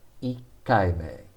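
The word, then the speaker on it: 一回: is pronounced ichi ichi ikai so ichi before kai becomes ik the fourth time ikaimeno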